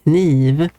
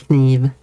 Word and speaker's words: kniv: So if you take the word knife in Swedish, that is kniv, where the K sound is pronounced kniv.